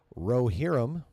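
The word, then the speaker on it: Rohirrim: Lord of the Rings The War of the rerum someone CLI that and send it to Josh it's pronounced rerum excuse me being tighter than expected pause 2024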